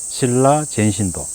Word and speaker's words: 新羅善神堂: 그래서 신라 신사가 많지만은 신라라고 그렇게 발음하는 데는 없습니다. 이곳이 유일합니다. 여기는 신라 젠신도.